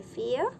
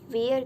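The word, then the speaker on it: vier: 4 को हम कहते हैं फियर. वी को जर्मन में हम एफ प्रोनाउंस करते हैं. तो ये वियर की जगह फियर होगा.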